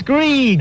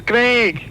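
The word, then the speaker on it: Greig: It's meant to be Greg. How do you spell it? G-R-E-I-G. Grieg. Greg. Grieg. Greg. It's Grieg. It's Greg.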